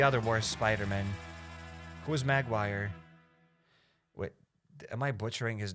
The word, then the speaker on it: Maguire: Toby Magguire. Okay, it's not Magguire, it's Maguire. Toby Maguire. Okay, I did it. I made a mistake. I apologize. I apologize. It's uh Toby Maguire.